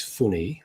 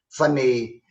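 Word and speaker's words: FUNiX: about your company now i'm going to pronounce it as funny i hope i've got that correct but it's spelled f-u-n-i-x and i'd be very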